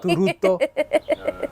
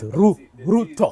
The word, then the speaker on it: Ruto: You see, not Ruto. It's Ruto. The T is too strong.